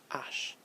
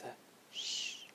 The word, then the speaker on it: H: the English or sorry the French word or pronunciation is Ash and a good way to remember that it is silent is that it makes a shh it's at the end Ash so it's like